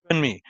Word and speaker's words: Funmi: They were Funmi. All right. How do you pronounce it?